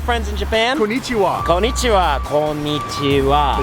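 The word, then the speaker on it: こんにちは: Konnichiwa. Is that how you say it? Slightly different with the pronunciation right there. Konnichiwa.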